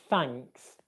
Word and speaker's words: thank: How do you pronounce thanks and thank in RP? The key with this one is the TH sound at the beginning.